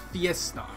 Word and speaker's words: FIESTAR: It's FIESTAR. The R is silent.